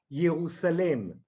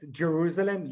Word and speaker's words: Yerusalem: Yeah, I would like to say the name is Jerusalem, not Jerusalem, Jerusalem, because that's the way Beta Israel, the Ethiopian Jews, pronounce the name of Jerusalem, and they didn't mean to the geographical place of Jerusalem.